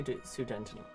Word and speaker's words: Sudetenland: Sudetenland pronunciation. 1 second. Let's just say Sudetenland.